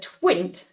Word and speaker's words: Twint: Just the pronunciation of the mobile payment app, it's Twint. Twint, thank you.